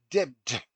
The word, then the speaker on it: debt: he should say doubt, debt when he should pronounce debt, D-E-B-T, not D-E-T.